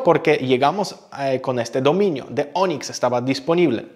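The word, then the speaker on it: DONX: Ahora, The Onyx, porque así leemos el nombre de la empresa, se escribe D-O-N-X.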